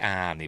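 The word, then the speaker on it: Arne: Johnson it was just they do pronounce it anie by the way in in the film it was just the beginning.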